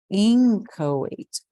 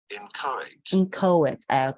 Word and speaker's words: inchoate: Inchoate. É isso mesmo? Inchoate. Eu tava só... O stress estava na sílaba errada.